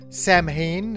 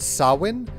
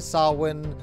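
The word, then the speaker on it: Samhain: nerdy thing like what they refer to as Sam Hayne as the lord of the undead uh refers to a holiday or a tradition called sawin which is how you actually pronounce that because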